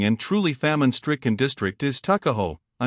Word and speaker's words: Tuckahoe: Eastern Shore men usually pronounce the word took as tuck, Tuckahoe, therefore, is, in Maryland parlance, Tuckahoe.